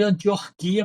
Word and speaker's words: Antioquia: Aliás, não é Antioquia não. Eu botei aqui errado porque eu sempre escrevo Antioquia, porque eu acho a pronúncia Antioquia, acho que tá errado, mas o certo é Antioquia, não tem esse ó, ó, né?